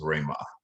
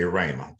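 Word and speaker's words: Ramah: my middle name is rayma r-a-m-a the first part of our company but everyone pronounces it incorrect they say rhema rhema and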